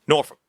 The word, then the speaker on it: Norfuk: Yes, the language is spelled Norfuk. It's Norfolk.